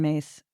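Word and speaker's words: Myss: Carolyn Mace. I'm pronouncing it that way. And it is spelled M SS.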